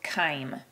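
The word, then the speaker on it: chyme: stomach it produces this very thick fluid called Kim so it's pronounced as though it were spelled like that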